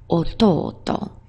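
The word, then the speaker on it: おとうと: He is ototo, and the o in that word is not honorific, it's coincidentally part of the word.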